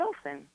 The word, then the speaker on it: Olsen: It's Olsen. part of Taylor Sheridan. Oh, what did I say? Yeah, Are you making fun of me, Ren? You said it right. Elizabeth Olsen.